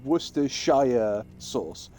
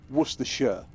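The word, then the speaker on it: Worcestershire: The reason being is because you you said Worcershshire sauce, which is correct, but if you live in Worershire, you call it Worershure. So if you if you want to say it properly, then yes, it's Worershire. But if you're if you're local, it's Worersha. It's one of those weird things in England.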